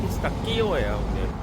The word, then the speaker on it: pistacchio: 얘네 발음으로는 피스타치오예요. 미국식이나 우리나라에서 피스타치오라 그러죠.